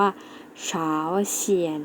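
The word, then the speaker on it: 朝鲜: เหนือ เกาหลี เหนือ เรา จะ ออก เสียง ว่า เช้า เขียน นัก เรียน แล้ว ออก เสียง สิ คะ เฟอร์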